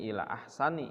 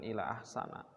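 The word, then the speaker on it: إلى أحسن: full Akpol Jar berarti bacanya Ila ahsani bukan ilah sana Ila ahsanil ahwali dibaca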